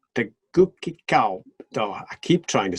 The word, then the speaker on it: Tegucigalpa: TEGUCIGALPA. Did you hear that? So it isn't a soft TEGUCIGALPA. That's much easier to say. TEGUCIGALPA. TEGUCIGALPA. TEGUCIGALPA. TEGUCIGALPA. It's a goosey place, not a Gucci place or a gookie place.